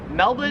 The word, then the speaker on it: Melbourne: Karen's it wouldn't matter because the Australian accent just leaves the r off if it's ever in the last syllable of a word so you would pronounce